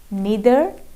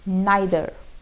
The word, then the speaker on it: neither: आप दो तरीके से इसको बोल सकते हैं। या तो आप इसको बोल सकते हैं ईदर या फिर आइदर, नीदर या फिर नाइदर।